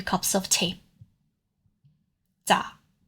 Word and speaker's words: 咋: This particle, 咋, is in the 4th chain. It is a combination of ze and a.